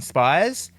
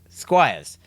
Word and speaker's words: Squires: We're now with our great mate John Spires. Is that how you say his name? Squires.